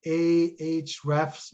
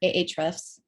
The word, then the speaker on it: Ahrefs: one that we we use we did evaluate a h refs which is the you know the link code which you know how do you pronounce that april h h yeah ahrefs ahrefs it's the html for the link so